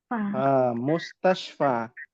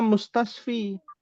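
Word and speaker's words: مستشفى: Fil mustasfa. Mustashfa. Tidak bisa mustasfi.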